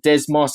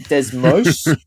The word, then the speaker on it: Desmos: So we pronounce it Desmos. I think you guys pronounce it Desmos.